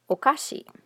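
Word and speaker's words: おかし: of contrasting feature here if you think of the word okashi this is a japanese word word for sweets but if you lengthen the vowel here okay this means strange or weird so you don't want to mix these two up so okasi is sweets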